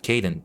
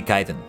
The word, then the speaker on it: Kaiden: Every once in a while I actually mispronounce my own name. Would you look at that? Oh, no. Yeah, let me reread that. And one for which we have Kaiden to thank. Usually, it's the other way around. It's only people that mispronounce it. But yeah. Yeah. Remember, it's meant to be Kaiden.